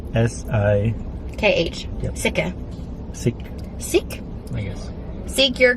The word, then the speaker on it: Sikh: Sikhi? Sikh? S-I... K-H. Yep. Sikha.